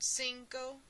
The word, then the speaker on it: cinco: letter c in spanish if the letter c comes in front of an e or an i it has an s sound like the word cinco dos a or onse